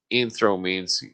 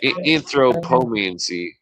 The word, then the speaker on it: anthropomancy: they were using anthropomorphization, or no, anthro anth- anthromancy. No, how do you say that? Yeah. Anthropomancy.